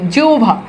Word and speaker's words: জিহ্বা: করে দেখেন তো দেখেন যদি শব্দে থাকে হ ব তাহলে উচ্চারণে হবে অব, অব কি হবে? অব। যেমন দেখেন জিহ্বা, এই দেখেন হ ভ আছে, উচ্চারণে কি চলে আসছে? অ ভ চলে আসছে, অ ভ চলে আসছে, ঠিক আছে।